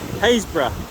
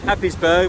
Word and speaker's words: Happisburgh: I'm on the beach here at Happisburgh, often mispronounced Happisburgh because that's how you spell it.